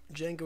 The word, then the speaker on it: Django: Django, is the D silent? The D is silent, you have to ask.